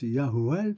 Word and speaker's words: Yahuel: D'autant plus que Yod et Vav, Aleph Lamed, ça se prononce Yahuel, c'est un des noms de Métatron dans les textes de la mystique.